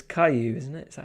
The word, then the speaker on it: Caillou: Reminding me of it's Caillou, isn't it?